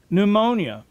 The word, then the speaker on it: pneumonia: or breath or wind many English words would start with the letters PN where the p is silent such as pneumatic pneumonia and pneumonic are all